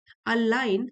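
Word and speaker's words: align: तो इससे कोई फर्क नहीं पड़ता हम कितने ध्यान से अपनी प्लानिंग करें, आउटकम्स रेयरली अलाइन, जी साइलेंट है, अलाइन विद आवर एक्सपेक्टेशंस।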